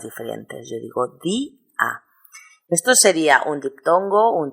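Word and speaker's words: día: ejemplo otra palabra d Yo no digo dia digo di a he puesto un acento en la i para provocar de lo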